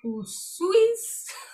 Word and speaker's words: Usui: She oversees practice groups of Mikao Usui's master. That's good. Is it? How do I pronounce that, please?